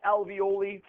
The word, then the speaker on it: alveoli: thing there the alvioli I call it alvioli rhymes with ravioli that's the only way